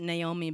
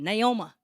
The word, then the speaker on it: Naomi: all i pronounce it naomi but since uh my granddad was from deep east texas he pronounced it naoma so this song called